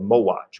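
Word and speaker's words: Mohács: empire the first one is the battle of mo watch which is a odd way to spell that word but that's how it is pronounced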